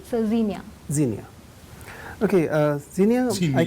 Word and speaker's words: Zinnia: Is it the correct pronunciation? So Zinnia.